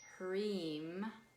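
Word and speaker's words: Hrim: a second sound together that second sound is cream so it's spelled H R I M and you're going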